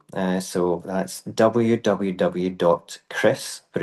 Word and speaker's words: Kris: Chris, but it's spelled K R I S.